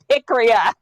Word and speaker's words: Pikria: I accidentally said Priya. It's Pikria.